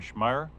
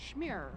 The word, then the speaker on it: Schmear: and sh I'm sorry schmeyer how's your last name pronounced smear smear I'm sorry one of